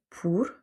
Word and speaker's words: por: Ensuite, il y a par exemple pour. On voit qu'il n'y a pas d'accent, c'est tout simple, et dans ce cas, par défaut, on va le prononcer OU.